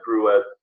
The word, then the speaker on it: Gruet: So I had Gruet, they pronounce it, champagne or sparkling wines from New Mexico, okay?